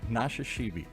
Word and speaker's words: Nashashibi: Nashashibi.